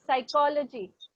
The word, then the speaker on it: psychology: Spell the word psychology. Sychology. You missed out with the first letter, Abhay. I'm so sorry for it. The word starts with P. Psychology. P is silent in the letter.